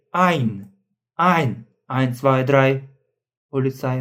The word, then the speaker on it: ein: You see a e i a u o For example we don't say we don't say ain but we say ein ein eins zwei drei Polizei und so on.